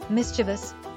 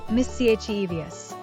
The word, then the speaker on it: mischievous: Yes, it's pronounced mischievous, not mischievous.